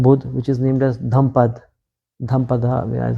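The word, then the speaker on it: Dhammapada: Like I was reading the book by Gautam Buddha, which is named as Dhampada, is how you pronounce it.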